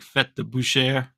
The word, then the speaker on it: Fête de Boucherie: I think it's like Fête de Boucherie, you know, because we say Boucherie.